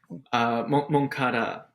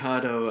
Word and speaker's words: Moncada: Moncada with an A. Moncada. Yeah, the I Pablo and apologize. Moncado. I feel like it's just it rhymes, so it happens pretty often.